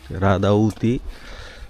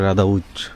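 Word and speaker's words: Rădăuți: এতদিন এতক্ষণ বলতেছিলাম রাদাউদ রাদাউতি এখানকার লোকাল উচ্চারণ করে রাদাউচ রাদাউচ এইজন্য অনেক সময় বিদেশী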